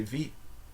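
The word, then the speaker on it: wie: you say who in in Dutch you say v v is who what how do you say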